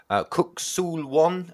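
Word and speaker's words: Kuk Sool Won: in saying a second degree black belt in Kuk Sul Won? Am I pronouncing that yes, right?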